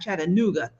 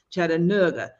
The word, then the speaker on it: Chattanooga: One of the things I loved about being away from Memphis, we went to Chattanooga, because that's how they say it, not Chattanooga, Chattanooga.